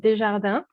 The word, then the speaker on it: Desjardins: and I am an offensive security consultant at desjarda and so that's how you pronounce it the Frenchie and everything thank you